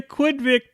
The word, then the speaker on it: Quidvic: The Quidvic Plagues, rhymes with Kidpick, is becoming an insidious force in the movie industry.